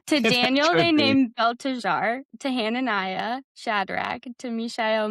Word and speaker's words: Belteshazzar: Belshazzar. Really? I feel like there's another syllable in there. To Daniel, they named Belteshazzar.